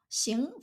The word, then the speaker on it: 行: For example, xing for movement or action, hang for professions or